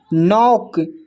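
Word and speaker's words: knock: नॉक, इसमें भी के साइलेंट है।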